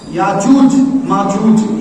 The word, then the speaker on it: یاجوج ماجوج: یاجوج ماجوج, بعض لوگ یاجوج ماجوج کہتے ہیں, یاجوج ماجوج یہ صحیح تلفظ ہے.